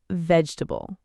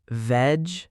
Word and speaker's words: vegetable: Say vegetable. Veg-e-ta-ble. No, it's vegetable. 3 syllables, not 4.